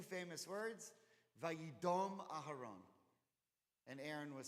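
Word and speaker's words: וַיִּדֹּם: Now, the grammar changes it to be pronounced Vayidom, but the word is dam.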